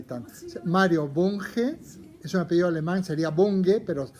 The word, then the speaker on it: Bunge: Hay un librito maravilloso que yo recomiendo desde ya, que se llama Mario Bunge, sería Bunge, pronunciado, vive, este señor debe tener casi 100 años.